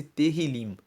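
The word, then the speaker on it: Tehilim: 150 o livro dos Salmos em hebraico chama-se terril se escreve t e h i l i m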